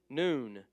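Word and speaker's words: nun: word the next one noon noon it's just like we'd say noon High Noon it's an in sound again this one has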